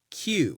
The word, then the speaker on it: queue: So, everyone, one more time, Q.